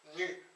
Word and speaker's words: nu: mis comme ça ni cette lettre s'appelle nu voilà ça saute ça se prononce nue donc les prêts à